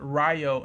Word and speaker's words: Ryo: into the defensive also rio is pronounced ryo in the dub but i'm going to